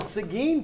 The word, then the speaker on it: Seguin: Seguin, by the way, ladies and gentlemen, Seguin, Yeah, Texas. spell it for us.